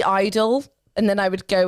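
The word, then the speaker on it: (G)I-DLE: lot of people like in Korea it's pronounced just Idol the G is muted in bracket um the second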